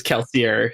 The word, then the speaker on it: Kelsier: well brandon has said it should be pronounced kelsey yeah yeah it's kelsier so it's a very confusing message how about